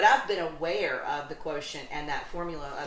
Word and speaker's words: QTNT: Now, when I came up with this idea, and that equals the quotient, which I call QTNT, I trademarked that, QTNT, but it's pronounced quotient.